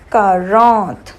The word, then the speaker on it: quarante: Now the word for 40, new word for 40 is quarante. Q-U-A-R-A-N-T-E. Q-U-A-R-A-N-T-E. Quarante.